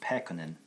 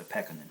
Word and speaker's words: Pekkonen: Pekkonen. It's a Finnish name, and in general, when you pronounce Finnish words, the first syllable gets a little accent on it, stress. So Pekkonen is how you say it.